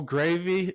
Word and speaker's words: Graeve: Yeah, name's Gravy. Last name is pronounced Gravy, just like the sauce.